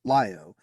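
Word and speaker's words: LiOH: of Loyola board Columbia Rogers pronounced it lyo referring to the lithium hydroxide canisters used to scrub carbon dioxide from the air we'll have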